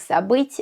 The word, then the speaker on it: забыть: My personal issue is the distinction between the Russian sounds I and I. It's because we don't have the second one in Serbian, and I still sometimes mix them up. But I've learned to be extra careful with words where this sound can change the meaning, like забыть and забить.